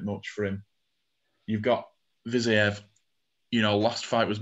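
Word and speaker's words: Fiziev: I don't even know how to pronounce that name. Viziev, that's how you say it.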